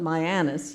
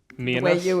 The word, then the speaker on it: Mianus: lovely to see that we did call it Mianus not me and you it yeah and I